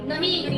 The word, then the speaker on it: know: नो यानी नहीं। यहाँ पे भी लिखा है नो, KNOW यानी कि के इसमें साइलेंट है और बाकी ये नो है, ये भी नो है, लेकिन इसको क्या बोलते हैं?